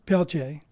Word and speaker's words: Peltier: Now, uh, your your name is Bonnie Pelchce, correct? I did say that correct because your name is spelled a little different than it sounds.